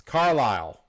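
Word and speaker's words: Carlisle: I'm sure there was a better pronunciation for that. It's Carlile.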